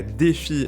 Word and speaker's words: DeFi: faire un focus sur la Defy la défi hein prononcé à la française la finance décentralisée qui